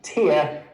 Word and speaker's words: tear: That's tear. Okay? You'll see that, you'll see. Because they all share that r. By the way, the fact that these four letters can also be pronounced tear shows just how messed up this whole thing is.